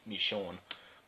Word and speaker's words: Michonne: so yeah then again a lot of people call me Shawn Michonne so how I even call her this even our proper pronunciation is me Shawn we Shawn or something like that so yeah you got